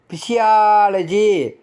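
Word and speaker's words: physiology: யா உச்சரிப்பு வயதில் மூத்தவர் பிசியாலஜி பிசியாலஜி அந்த சிக்கு அடுத்து ஓ வருது யா உச்சரிப்பு உடல் நூல் பாலியா பாலியா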